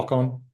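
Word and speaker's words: Hákon: So, Yeah, H A long A K O N, yeah. Hakon in Old Norse. Uh Hakon I I apologize to everybody who speaks Old Norse.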